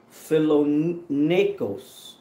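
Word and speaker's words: φιλόνεικος: 11 and 16 and it says uh fellow fellow Nikos is how you say that it says find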